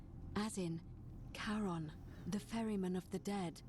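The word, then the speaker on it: Charon: c h a r o n as in Caron the ferryman of the Dead karon who in exchange for the right coin helps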